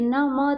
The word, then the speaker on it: नमः: अब ये तो विसर्ग है, लेकिन हम इसका उच्चारण क्या करते हैं? ह। क्या करते हैं? ह। ये न म था और विसर्ग था, तो हमने उच्चारण क्या किया? नमः।